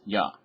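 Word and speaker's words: 八: the number eight or any other words where you would say Y for the number eight but that's how it's read sometimes yah so 428 y ya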